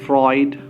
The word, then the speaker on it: Freud: people he there are there are different ways of pronouncing that word but i happen to learn that particular pronunciation through it you certain people call them as freud right so fruit is